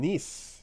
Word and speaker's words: Nice: From Nice, yes. Every tweet that I saw, Not nice, Nice. I was like, nice. No, that's Nice. It's pronounced Nice. It's Nice. Okay.